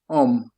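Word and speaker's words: homme: H h hio hom om hom non si pronuncia h om hom non si pronuncia h in fran om si tratta la h è mta in francese.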